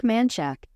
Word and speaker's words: Menchaca: But Mark Menchaca, how do you say this motherfucker's name? Mark Menchaca, let's look this shit up, bro. Mark Manchak.